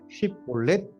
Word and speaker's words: 십볼렛: 그가 만일 아니라 하면 그에게 이르기를 십볼렛 이라 발음하라 하여 에브라임 사람이 그렇게 바로 말하지 못하고 시볼렛이라 발음하면 길르앗 사람이 곧 그를 잡아서 요단강 나루턱에서 죽였더라.